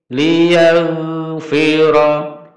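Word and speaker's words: لِيَغْفِرَ: Tidak boleh liyag. Kenapa? Karena ini bukan huruf kolkola. Huruf kolkola itu kof, dal, ba, jim, tok. Qad bujadin itu huruf qalqalah ghain, bukan huruf qalqalah. Oleh karena itu bacanya gini.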